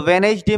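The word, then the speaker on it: Wednesday: तो वेनेज डे में क्या होता है? डी साइलेंट होता है।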